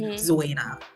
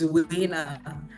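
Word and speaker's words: Zuwena: Now, how it's pronounced in Tanzania and the African countries it comes from is actually Zuena. But I grew up knowing it as Zuena. So I'm sticking to that.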